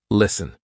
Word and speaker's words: listen: For example, S-T-E-N. Listen. We're not saying listen, silent T.